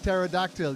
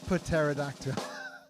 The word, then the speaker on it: pterodactyl: having fun with scissors it's like pterodactyl you don't say put pterodactyl dude we were doing